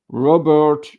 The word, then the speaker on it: Robert: and it's about um Robert plik and by the way in French it could be Rober so the names you